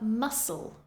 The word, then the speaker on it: muscle: c first we have muscle muscle scen scen scissors scissors Ascend Ascend as with the words before all of these words have a c in the spelling but you do not pronounce it next we have a